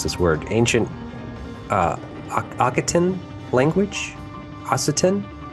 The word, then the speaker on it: Occitan: its use of an ancient, I can't even pronounce this word, ancient Occitan language. Occitan.